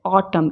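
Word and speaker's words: autumn: बताती हूं वुड बढो अब एन कब साइलेंट होता है जब वो एम के बाद में होता है जैसे ऑटम य एक सीजन का नाम है तो हम इसको ऑटम मेंही बोलेंगे क्या बोलेंगे ऑटम डैम हेम कॉलम कॉलम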